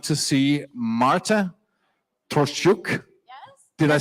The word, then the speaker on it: Marta Troszczuk: First, I'd like to see Marta Troszczuk. Yes. Did I say it right? Troszczuk? Yes, Troszczuk.